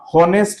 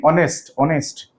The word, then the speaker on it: honest: कोन as first अछि बट we pronounce this कोन होनेस्ट नहीं ऑनेस्ट हरे नहीं ऑनेस्ट पिले लाइक नॉट सिमिलरली